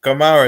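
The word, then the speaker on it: Guimarães: and bruno come up gemara is how you pronounce it i think them they're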